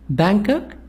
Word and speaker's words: Bangkok: Bangkok, G is silent.